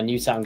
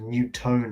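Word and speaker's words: Newtown: middle of nowhere Now new town get the home tie actually pronounced new town I thought it' be pronounced new tone or something a new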